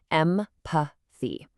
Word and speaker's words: empathy: This word has the famous American English th sound. To say it perfectly, your tongue literally must lightly touch the bottom of your top front teeth. Em-pa-thy. Just blow a little air right through there.